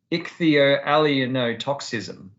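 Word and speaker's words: ichthyoallyeinotoxism: the consumption or accidental toxication by fish is ichthio allenotoxicism yeah okay so whether that's accidental recreational ceremonial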